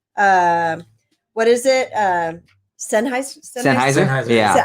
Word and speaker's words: Sennheiser: Sennheiser? Yeah. I said Sen. I pronounced it wrong, but she I just